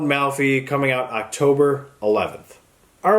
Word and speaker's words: Malfi: have it ghost written by Ronald malphi no I said it wrong again so there you have ghosts written by Ronald malphy coming out October 11th